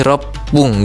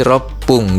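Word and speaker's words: ろっぷん: Kalau 6 menit dia berubah jadi r pung gitu ya. Jadi berubah rokunya jadi r pung gitu. Jadi r su kecil dan pung.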